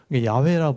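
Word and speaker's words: 야훼: 아도나이 몸을 떼가 붙이니까 여호와가 됐는데 원래는 야라는 발음이 더 정확하다 이런 표현을 써요 야외라고 불러도 괜찮고 여호와 불러도 괜찮은데 하나님 이름 정도는 우리가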